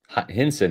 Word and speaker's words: Hinson: what about the in its pronounced cense Hinson higher cense Hinson is